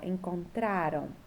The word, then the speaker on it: encontraram: E aí, a sílaba tônica, que é a sílaba mais forte, é a penúltima, ó. Encontraram, levaram, deixaram, né?